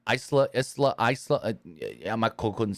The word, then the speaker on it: Isla: And dumbass Michael Cole, because her name is spelled I-L-S-A or I-S-L-A. Yeah. I-S-L-A. Isla.